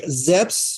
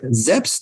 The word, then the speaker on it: Szeps: do so at Josh zeps that's z-e-p-p-s like Led Zeppelin although his surname is